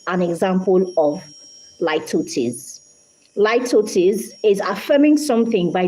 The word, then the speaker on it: litotes: Not littles. It's spelled Litotes, but it's pronounced litotes.